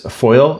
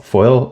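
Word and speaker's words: Foyil: Another 3 and 1/2 miles uh down Route 66 is Foil. I think I hope I'm pronouncing that right. It's f o y i l, Foil, Oklahoma.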